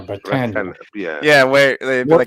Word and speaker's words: Bretagne: And I think it's pronounced in French Bretagne or Bretagne.